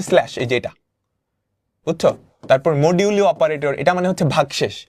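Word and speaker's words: modulo: যোগ বিয়োগ গুণ ভাগ, এটা হচ্ছে ভাগশেষ, ফর এক্সাম্পল 5 কে যদি 2 দিয়ে মডিউলো করো, এটা মানে হচ্ছে 5 মডিউলু, এটার উচ্চারণ হচ্ছে মডিউলু।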